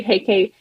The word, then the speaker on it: Huyke: or LinkedIn yes HEK HEK is spelled h u y ke doesn't look like how it's pronounced it does not because